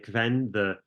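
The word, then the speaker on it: Qven: But I love all the political maneuvering around Reet and who he was, and am I pronouncing it right? Kven, Kven, yeah.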